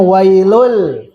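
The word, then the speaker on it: ويل: Lil mutifin jumlah wailun asalnya kan dibacanya wailul tapi dituliskan wailun ah jumlah apa ismiah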